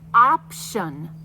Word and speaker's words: option: The ti says the shh an option. T i o n.